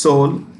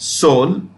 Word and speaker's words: Seoul: It's pronounced Seoul. Okay, E is silent. E is silent. Seoul.